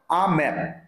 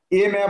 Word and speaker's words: a: আ ম্যাপ, উচ্চারণটা হবে আ ম্যাপ, এ ম্যাপ হবে না। Amal is drawing এ ম্যাপ of India হবে না, ভুল।